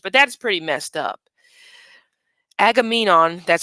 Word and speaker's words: Agamemnon: excuse my language but that's pretty messed up Agamemnon that's how you say his name did not